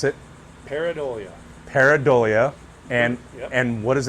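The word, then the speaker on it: Pareidolia: How do I pronounce it? Paridolia.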